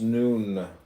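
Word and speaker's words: nun: and deaths comment on none none pronounced noon transcribed as n the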